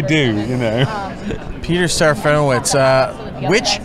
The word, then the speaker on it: wicz: Witch or wits? I heard you correcting somebody down the line. I'm witch. Witch. You do pronounce it witch.